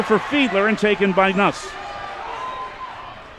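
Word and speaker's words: Nusz: throws here for sowinski nuts is how she pronounces her name n-u-s-z siwinski is two for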